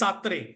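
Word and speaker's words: Sartre: Kad has said satre satre satre okay the pronunciation is satre satre was also a one of uh you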